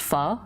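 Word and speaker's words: phở: It's pronounced pho, right? Despite being written as pho in English, yeah?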